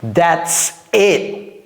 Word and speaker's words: that's it: That's it. J'ai pas j'ai pas prononcé le T.